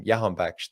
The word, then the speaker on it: Jahanbakhsh: And obviously in Holland they don't pronounce the J, so they pronounce it as a Y.